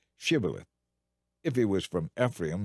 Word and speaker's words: shibboleth: tell him to say shibboleth if he was from ephraim he would say sybileth because people from ephraim cannot pronounce the word correctly then they would take